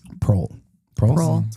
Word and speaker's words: Proehl: Proehl. Proehl? Proehl. That's how you say it, right? Yeah, Proehl, As yeah.